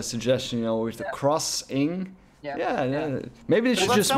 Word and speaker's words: Xing: I'll bet you they want you to pronounce it crossing, because in the States XING is crossing, and they have a kind of whole porting thing going. So I think it's Crossing the Land Beyond.